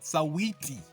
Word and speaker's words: Sawiti: Chandambao just got verified on IG, that's Instagram, and his first mission was to slide into Sawiti, you gotta say it like that, Sawiti, Zambia.